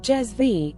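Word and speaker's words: cezve: special pot called a Sur pronounced jez V and the coffee is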